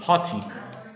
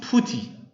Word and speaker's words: PuTTY: is a sufferer named potty named potty unfortunately some people call this putty but this one is potty not putty okay okay it's a wrong pronunciation tutti potty okay patty